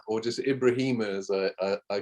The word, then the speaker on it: Ibrahima: Yeah, Abdul Rahman Ibrahima, or just Ibrahima, as I called him in the book.